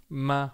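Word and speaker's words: 妈: Let's talk about first tone first. So we call this one the singing tone. And it's essentially the highest point in your vocal range. The way I would say the English word may be, maybe. So just try it with me. This is the word for mother or mum. Ma.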